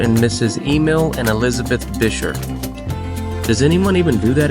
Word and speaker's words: Buescher: at bisher State Park I did confirm it's pronounced a bisher not buer not busher which is what I've called it my whole life let's have some